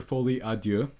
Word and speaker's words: Folie À Deux: If you have not seen Joker Folie À Deux, which is how you pronounce it.